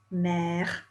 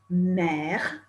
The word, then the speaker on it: mère: Did you notice that mère, mother, mère, and père, father, père, both rhyme with frère, for brother?